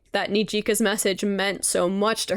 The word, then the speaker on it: Nijika: And this is actually such a sweet message from Nijika.